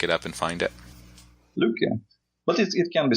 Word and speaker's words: Lykke: any fiat currencies in the Lykke wallet, and it allows easily to deposit any kinds of fiat currencies using credit cards, bank wires, and so on.